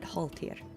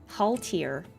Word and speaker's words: Holtia: voice those swords and I said huh that looks Nordic to me. Suddenly Holtia. That is to me just it's not it doesn't mean anything that I know, but it felt Nordic to me, so I pronounced it Holtia rather than Haltia or something.